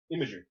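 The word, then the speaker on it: Imgur: construction process on uh how do you say that IMG IM how you pronounce that what IMG are imager imager okay I just didn't I've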